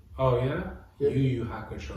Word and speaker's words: Yu Yu Hakusho: I fully started Yo-Yo Hakusho. Oh yeah. Yeah. Yu Yu Hakusho. Yu Yu Hakusho.